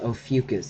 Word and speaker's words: Ophiuchus: Um, but it's Ophiuchus, as in the constellation. I named my channel after my pet snake, whose name is Ophiuchus.